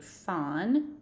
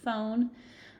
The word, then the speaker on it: phon: So whenever we're hearing that root phon, or sometimes pronounced phone, we're thinking of sounds.